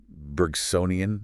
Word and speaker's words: Bergsonian: we should be more open to those Bergsonian, is that how you say it?